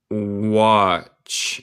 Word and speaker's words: watch: Con tampoco un bolsillo de traje, or a watch, el T es muda, a watch to take